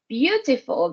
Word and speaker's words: beautiful: Because we have that EAU, all right, but we just pronounce view, okay?